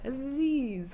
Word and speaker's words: Aziz: But anyway, Rhymes with Dev. Yeah, I know. Aziz.